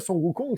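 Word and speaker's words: Sun Wukong: pérégrination vers l'ouest puisque sukong c'est la prononciation chinoise donc originale de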